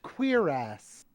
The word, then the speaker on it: cuirass: my god, it's pronounced Queerass.